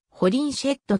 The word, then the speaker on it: Holinshed: 利用された日本語では性をホリンセットとするなど表記の揺れがある英国の発音時点でも上記に引用している通りホリンセットという発音であると説明されているホリンズヘッドはチェシャー